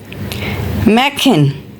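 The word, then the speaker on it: machen: the next one इज़ इफ we have a ओ उ combined with सा एंड ह सो it's sound like मैकिन मैकिन meaning is टू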